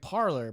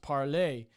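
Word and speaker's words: Parler: is not pronounced like parlor by the way it's french so it's pronounced parley a rough translation is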